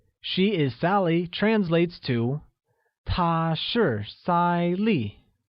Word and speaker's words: 她是赛丽: She is Sally translates to 她是赛丽 which is pronounced with a high level tone on A and a falling tone on I.